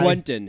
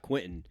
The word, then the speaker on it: Quenton: can put an i Quenton his name is pronounced Quenton Nelson not Quinton took me like 5